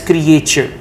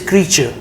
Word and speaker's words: creature: tense then you said you mispronounced the word creature as creature the right pronunciation is creature and you said this